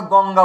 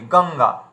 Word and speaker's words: গঙ্গা: যদি গ আসে সেখানে দেখুন, যেমন আমরা গঙ্গা উচ্চারণ করি গঙ্গা, তো এখানে এই যে উয়া উচ্চারণ চলে এলো।